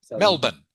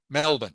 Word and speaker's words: Melbourne: Uh there are and okay Melbourne it's pronounced Melbourne Melbourne Melbourne.